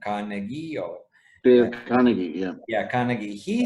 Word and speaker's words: Carnegie: And also the famous American writer, Dale, I don't know how to pronounce his family name, Carnegie or... Dale Carnegie, yeah.